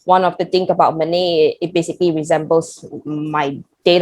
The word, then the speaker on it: Mênê: Mini? What kind of company calls Mini, I was like, no, Ma, it's called Mênê. You pronounce it as MENAY. She's like, oh, it sounds like money.